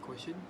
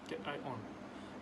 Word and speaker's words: cation: When there is an abundance of acidic quotient, pronounced cation like hydrogen and aluminium present compared to the alkaline quotient like calcium, magnesium, potassium, also sodium.